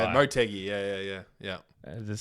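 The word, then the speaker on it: Motegi: So, you want to know something funny about Montgy? My whole life I only discovered this a few weeks ago. Uh, it's actually pronounced BGY.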